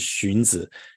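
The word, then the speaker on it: Xunzi: isn't considered so Orthodox his name is shunza and for people who don't read Chinese you probably don't even know how that's spelled it's spelled XU nzi Master shun is his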